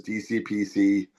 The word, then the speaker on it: DCxPC: We decided we were going to book shows as DCPC uh, live. The X is silent, by the way.